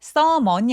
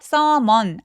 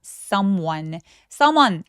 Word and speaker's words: someone: someone이 아니라 발음기호를 제가 띄워드릴게요. 뭐라고 써 있어요? someone, W가 써있죠. 그래서 W가 들어가면 입술을 쭉 내밀어서 소리를 시동을 걸어야 돼요. 그러니까 someone 아니고 someone, one 하면서 입술을 쭉 내밀어서 시동 걸어주시면 됩니다.